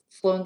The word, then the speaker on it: Sloan: name that is um it's like flown sloan square in england sloan circle or whatever it's called sloane square but it's spelled with eve my name's not doesn't